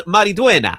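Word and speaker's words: Maridueña: Zolo Maraduena. Yeah. I wasn't even going to give it a shot. I know you were going to give it's Maruena.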